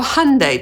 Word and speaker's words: Hyundai: Hyundai po angielsku przeczytamy jako /ˈhʌndeɪ/, czyli rymuje się z Sunday.